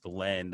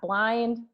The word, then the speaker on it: BLND: And I love your company name, Blend, and it's spelled BLND, which thanks, man. I appreciate that. You know, we've had a lot of interpretations of that. Believe it or not, blonde.